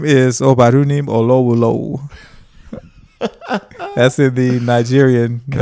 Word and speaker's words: Olowolowo: Yeah, so and the way it's pronounced is Obarunim Olowolowo.